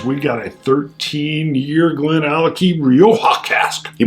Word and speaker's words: GlenAllachie: scotch test dummies we got a 13 year glen alecky real hot casper you pronounced it right i'm excited and it's limited